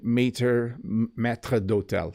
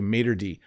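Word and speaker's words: maître d': say Mater Matra dotel we don't say that in English we just say Mater D and I apologize to all my French viewers that's how we pronounce it we say Mater D and if there were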